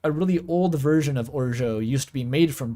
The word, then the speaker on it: orgeat: Apparently it's just Orgeat. It's French. It's a really hideous word. I've heard Orgeot. It's not Orgiat. It's not that.